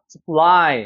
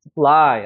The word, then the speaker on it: supply: 그래서 힘줘서 써가 아니라 supply, 여기 뒤에가 강해요. supply, 앞에는 그냥 쓰하고 넘어가는 거예요.